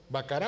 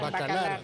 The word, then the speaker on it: Bacalar: ¿Bacarat o Bacalar? Bacalar.